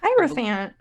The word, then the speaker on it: Hierophant: Hierophant. Yep. Oh my god, I pronounced it right.